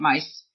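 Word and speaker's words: Caroline Myss: um Caroline mice who I never say her name right right my y SS but I think you say it mice Caroline mice um you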